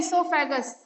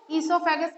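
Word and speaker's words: oesophagus: ठीक है ग्रास नली इसको कहते हैं सोफस क्या कहते हैं इसको सोगस कहते है ओ साइलेंट होता है ठीक है इसीलिए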